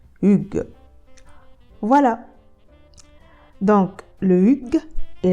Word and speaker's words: hygge: Et je suis tombée sur une vidéo d'un acteur danois qui donc dit qu'en français, on doit dire Hugues.